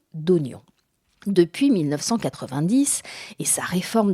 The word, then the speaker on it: oignon: Or, jusqu'au 18e siècle, le I de IGN était muet. On disait gen. D'où la prononciation d'oignon.